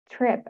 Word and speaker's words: TRP: a class of protein called TRP, pronounced TRIP actually, ion channels as key players in the nervous system's pain signaling apparatus.